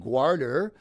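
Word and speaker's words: Gwawrddur: It's this Welsh poem, and at one point the poem is praising a warrior named Gwarder, which kind of rhymes with Arthur.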